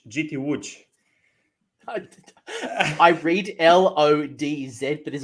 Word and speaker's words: Łódź: knights of slaanesh went 5-0 at gt i pronounce it as lords but i've been told very quickly in polish it is not lods uh what is it martial hi everybody it's gt wood i read l-o-d-z but there's also a lot